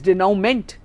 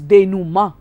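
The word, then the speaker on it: dénouement: maybe remember it as denominate but then the correct pronunciation is denu ma because it's a french word and it is pronounced that way english is a funny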